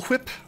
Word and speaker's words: whip: Was it a cool whip? I think it was. I think it might have been a cool whip. Okay, keep some of these armors. Are you pronouncing the H?